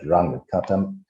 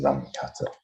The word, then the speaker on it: Runge-Kutta: was to think about Runge-Kutta integrators, or I should say as a German, Runge-Kutta, but I think it's more common now to use the English pronunciation, so I would stick with Runge-Kutta.